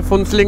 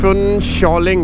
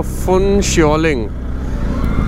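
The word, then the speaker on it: Phuentsholing: में का स्वागत है वैसे फुलिंग नहीं है फु शॉलिंग है जिस हिसाब से अगर हम नाम को ढंग से प्रोनाउंस करें तो फु शॉलिंग ओ यह कौन है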